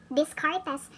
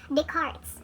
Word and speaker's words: Descartes: on is d-e-s-c-a-r-p-e but some people would uh pronounce it as this cartes but the proper pronunciation of this family name is descartes no he is the father of uh he